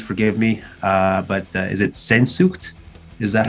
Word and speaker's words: Sehnsucht: But is it Sehnsucht? Is that how you pronounce it? Sehnsucht, sure.